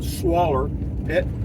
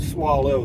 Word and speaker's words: swaller: I think I'll take a swaller. Swaller is spelled S-W-A-L-L-E-R. Heavy on the swaw. Swaller. It's not swallow.